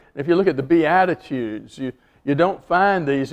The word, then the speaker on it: Beatitudes: it starts with Attitude the Beatitudes it's not spelled like attitudes it's a little bit different but it sounds a lot like it and they are attitudes